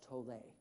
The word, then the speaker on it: Tolle: And I know it's pronounced Tolle because I Googled it. Did any of you ever wonder? He pronounces it Eckhart Tolle.